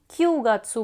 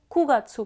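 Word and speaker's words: 九月: वह सितम्बर अब आप सोच' क्यूगात्सू कहते हैं भगवान, क्यू गत्सु इसलिए उच्चारण में वहाँ एक अंतर है, इस पर ध्यान दें। इसे रखें। क्यूगात्सू' इसे मत पढ़ो,' कुगात्सु 'पढ़ने के लिए' हाँ।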